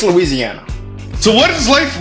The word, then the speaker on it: Louisiana: you from what state I'm from Louisiana I say it Louisiana some people say Louisiana it's Louisiana so what is life